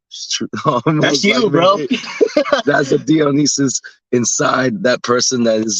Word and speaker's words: Dionysus: And we found somebody called Dionysus. Am I pronouncing that correctly? Yeah, Dionysus emphasizes the point of having fun.